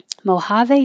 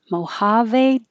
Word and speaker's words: Mojave: eye long long island don't say the d mojave desert mojave desert i haven't talked this much in a